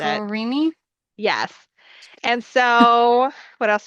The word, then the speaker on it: Amigurumi: Amigurumi is, I think, how you pronounce it. Amagurumi?